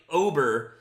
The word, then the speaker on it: Ober: it's I think it's Bailey Ober uh yeah over it's like uber with an O um this guy has